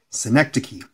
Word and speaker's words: synecdoche: If you don't believe that that's how it's pronounced, I challenge you to look it up. Synecdoche.